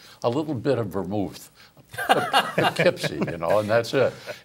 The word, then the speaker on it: Poughkeepsie: He said, Arnold, you say a little bit, maybe it's from your upstate New York background, but you say Poughkeepsie. It's not Poke, it's Poughkeepsie.